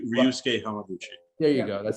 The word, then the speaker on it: Ryusuke Hamaguchi: all had semi-longer names, but you got to pronounce Ryusuke Hamaguchi. Ryusuke Hamaguchi.